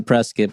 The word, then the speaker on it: Prescott: press if they do they pronounced a press kit but it's spelled Prescott they get real bum yeah so everyone calls it press kit so I'm just gonna